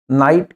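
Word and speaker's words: knight: तो जब कभी भी के बाद एन आता है और उस शब्द का आपको उच्चारण करना हो तो के साइलेंट रहेगा। उसका उच्चारण एन से करेंगे।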